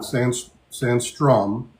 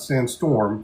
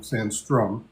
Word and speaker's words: Sandstrom: Sandstrom, not sandstorm, Sandstrom.